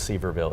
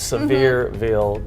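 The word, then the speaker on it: Sevierville: about half my life i thought it was seaverville it's severeville tennessee and she said their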